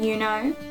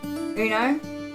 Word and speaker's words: Uno: So I'm sure most of you know the card game, Yuno. You might pronounce it Uno, depending on where you're from.